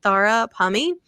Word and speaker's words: Tara Pammi: just address that and say that yes it's pronounced thara pumy and it's spelled t a r a p